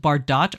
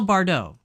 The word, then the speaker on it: Bardot: theh shoulder neckline is called BAU is it Bardot or BAU oh the tea is silent okay I I should have continued reading uh so it's the off thee shoulder neckline is called a BAU so this is a BAU is that what